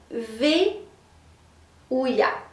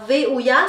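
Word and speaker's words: Vehuiah: de 000 à 19 minutes votre ange c'est V ouya alors V ouya ça s'écrit V e h u I a h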